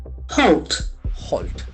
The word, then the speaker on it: halt: So it's a beautiful observation where the letter a has good o sound. Halt to stop doing something.